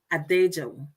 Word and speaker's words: Adejo: So meet Adejo. Did I pronounce that right? You got that 100%.